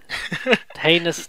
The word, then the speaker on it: heinous: that is heinous uh heinous to rhyme with anus um oh yes there